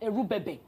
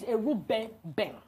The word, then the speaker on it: Erubebe: My father's name is not Erubebe. My father's name is Erubebe.